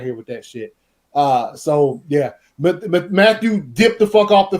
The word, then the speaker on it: Mathieu: Tyrann Mathieu for Mateo safety from. Thank you. No, say Matthew. it how Matthew, it's spelled. It's Matthew. It's Matthew.